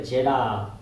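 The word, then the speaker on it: זֶרַח: 세라는 원래 제라흐 이렇게 발음해야 돼요.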